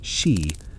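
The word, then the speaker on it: Sídhe: They could be ancient burial mounds known in Ireland as she pronounced she, which were believed to be the underground palaces of the Tuata Danan after they were driven from the surface.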